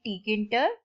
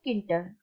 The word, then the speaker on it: Tkinter: You can either call it Tkinter or Kinter. I will pronounce it as a Tkinter.